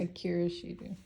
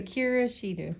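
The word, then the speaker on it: Akira Shida: Akira Shido. Say it loud so they can hear. Akira Shido.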